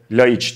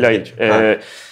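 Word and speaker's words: Ljajić: geçen oyunculardan biri de Adem Yayiç ve Laiç diye okunuyor sanırım gerçi. O senin de çok iyi tanıdığın bir isim. Yayiç galiba değil mi? Laiç.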